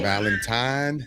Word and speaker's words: Valentine: Spelled with an N as in November, not an M as Oh Lord. Who in keeps Mike. saying? Valentine, not Valentine.